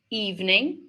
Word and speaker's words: evening: Overall, overall overall and evening. Evening. Which evening looks like it might have three syllables, but it has two.